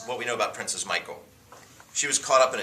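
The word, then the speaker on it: Michal: No, that's how you pronounce her name. It was a girl. It was a girl. But you pronounced her name Michael. It's spelled differently.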